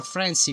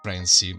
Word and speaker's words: Franci: Hey, Super Francie, follow me. Of course, butchering my name, as everyone always does. By the way, in case you were wondering, it's pronounced Franci, not Francie, it's Italian.